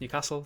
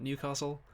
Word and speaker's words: Newcastle: It's pronounced Newcastle, not Newcastle.